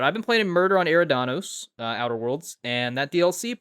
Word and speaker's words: Eridanos: In terms of what I've been playing, something I mispronounced, The Murder on Eridanos, Outer Worlds DLC. I think I pronounced it Eradnus last week, and that's because I